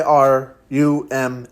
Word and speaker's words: Iruma: even say his name it's i r u ma a Ruma as he says it properly so people call me